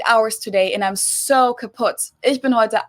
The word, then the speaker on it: kaputt: We spell it with 2 T's in Germany, but we pronounce it the same way, Kaput.